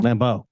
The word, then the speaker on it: Lambeau: Lambeau.